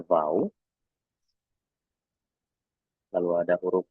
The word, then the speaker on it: V: itu dibacanya ku, lalu huruf V ya, dibacanya vau, lalu ada huruf W